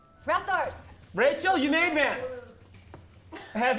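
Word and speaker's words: Rathtar: First syllable, rat. Second syllable, tar. Rathars.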